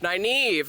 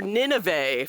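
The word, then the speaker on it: Nynaeve: And so I stitched it and I was like, "My gosh, naive." Right? I used to call her Nineve for some unexplained reason before I used the audiobooks.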